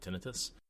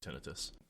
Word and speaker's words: tinnitus: My parents growing up were audiologists, so my dad literally works with people with tinnitus, or as he called it, tinnitus. Both pronunciations are correct, but I grew up with tinnitus.